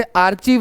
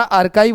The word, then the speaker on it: आर्काइव: जैसे आर्चीव नहीं होता, आर्काइव होता है, उसी प्रकार से कैलीग्राफी बोलते हैं।